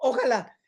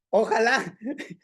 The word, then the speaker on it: ojalá: Ojalá es una palabra de la clase pasada que debería de haber dicho, porque ojalá viene este término de los musulmanes. Ojalá quiere decir quiera Alá. En otras palabras, nosotros los